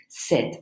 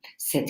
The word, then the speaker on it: cet: it's still masculine singular we use this special form said CET it's kind of like a masculine form of the feminine one said yeah and that's just